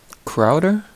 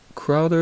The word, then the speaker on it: Kraeuter: ratchet video uh today i have a crowder i think that's how you pronounce this i'm not too sure it's k a no